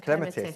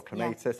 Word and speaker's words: clematis: flowers is the beautiful is that the clematis or clematis, however you wish to pronounce that as well. I know. It works both ways, doesn't it?